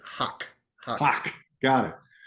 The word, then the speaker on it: Haque: Haque, Hakui, Hake. It's just Huck.